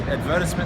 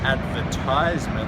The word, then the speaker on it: advertisement: the same thing but we use advertisement that has an S and the emphasis is on the second syllable whereas in advertizement they use a Z and the emphasis is on the third syllable."